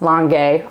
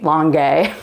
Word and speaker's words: Langhe: And then Langhe, so it's pronounced Langhe, I'm gay, you gay, Langhe, that's how I remember it, is in the Piedmont region, which is right around here.